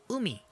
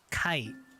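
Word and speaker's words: 海: it reading for it is umi umi umi and the on reading is kai kai okay okay okay well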